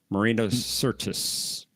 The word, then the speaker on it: Marina Sirtis: How do you pronounce that one more time? Marina Sirtis.